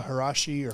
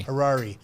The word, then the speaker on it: Harari: Noah Harashi or Noah Harari. Harari.